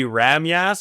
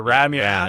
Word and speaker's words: Rhamgjas: Sometimes J's are pronounced as Y's. Yeah. So it'd be Ramyas or Ramyas.